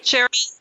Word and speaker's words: Sherry: Sherry, like the drink, okay, yes.